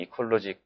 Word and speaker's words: EqualLogic: 발음이 이퀄로직 맞으십니다.